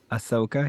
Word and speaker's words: Ahsoka: it's the new Star Wars series about Oh, is the that how you character pronounce her name? Ahsoka.